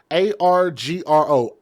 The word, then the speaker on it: Argro: This young man that you see right here, 23 years old, Isaac A-R-G-R-O, Argro, allegedly shot and killed Asia Johnson, and her name is spelled in a unique way.